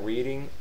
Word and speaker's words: Reading: Reading is a Oh, yeah. name, and it's pronounced that way. Reading, spelled the Copy same, that. but the action or the verb and adverb of it is pronounced reading. Huh.